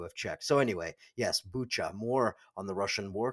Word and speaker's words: Bucha: Okay, so let's talk a little bit about Bucha and war crimes.